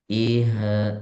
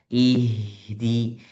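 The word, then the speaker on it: اهدِ: Hati-hati ketika baca ih itu kebanyakan nafasnya keseret ya. Bacanya banjakan ihha. Ihha. Enggak. Ihdi. Ihdinas. Jangan sampai keluar suara yang dari bahkan keluar dari hidung.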